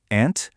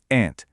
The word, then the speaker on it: aunt: E para tia, olha que interessante, existem duas pronúncias que são incrivelmente comuns: aunt, aunt ou então aunt. Acreditem, ambas estão perfeitamente corretas e são extremamente usadas nativamente. Vale muito a pena absorver bem esses dois sons.